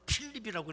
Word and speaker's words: 빌립: 빌립이라고 하는 말을 헬라어로 필립이라고 읽습니다. 그걸 히브리 발음으로 성경에는 빌립이라고 한 것입니다.